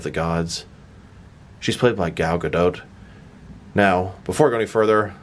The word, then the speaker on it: Gal Gadot: name it's actually pronounced Gal Gadot at least that's my American Boy of pronouncing it but you do pronounce a t one reason I'm saying